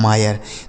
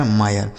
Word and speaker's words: mire: ठीक है, MIRE यह लिखा गया है मायर। तो आई के बाद अगर RE हो तो आई का उच्चारण आय हो जाता है, जैसे फायर, higher, वायर, tyre, inspire, मायर।